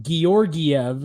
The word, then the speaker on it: Georgiev: nickname is Georgie but his actual name is pronounced georgiev and it's like oh my God yeah quite